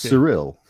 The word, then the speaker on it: Cyril: Pronounce it without the E, just Cyril.